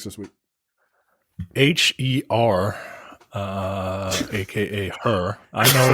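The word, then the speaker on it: H.E.R.: jump into topics this week h-e-r uh AKA her I know it's pronounced her I know it's pronounced her when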